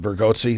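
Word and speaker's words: Bargatze: I also like Nate, is it Vergozzi?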